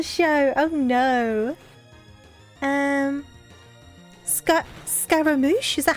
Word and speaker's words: Scaramouche: not against it um did I pronounce it right though Scaramouche okay and then we need capitals that is how you pronounce it awesome okay I don't